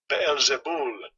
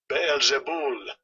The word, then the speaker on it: Beelzebul: All right, so Beelzebub is the Greek 954, and here's how it's pronounced, if you can hear this. Strong's G 954. Beelzebul. Beelzebul.